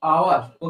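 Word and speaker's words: hour: एच कोसोनेंट है लेकिन sound important है। यहां पे एच साइलेंट होते हैं। एच साइलेंट होते हैं। इसलिए यहां पे हो जाएगा आवर।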